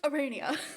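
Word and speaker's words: Aranea: It's pronounced Arania.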